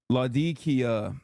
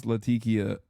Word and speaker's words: Latakia: Laadikia. That's how you pronounce Laadikia area in Syria.